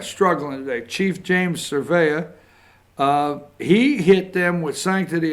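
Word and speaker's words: Cervera: 56 the police chief pronounce his last name again for me Josh what surveyor Thank You Josh surveyor struggling today Chief James surveyor he hit them with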